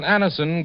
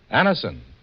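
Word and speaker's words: Anacin: It's so unnecessary to suffer from the pain of headaches, neuritis, or neuralgia when Anison gives you such incredibly fast relief.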